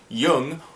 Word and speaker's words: Jung: it is not pronounced Jung and why is that because my last name is actually German my dad's side of